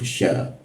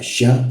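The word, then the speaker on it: ش: Berikutnya adalah huruf sya. Ini mudah jika kita bisa mengucapkan kata she dalam bahasa Inggris karena posisinya sama. She, sy she, sya. Ketika kita bisa mengucapkan ee kata sya syi dalam bahasa Inggris,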